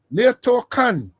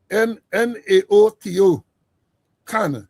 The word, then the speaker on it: Naoto Kan: Nato Khan, Prime Minister of, I hope I pronounce the first name, Naoto Kan, K-A-N, Prime Minister of Japan, resigned in 2011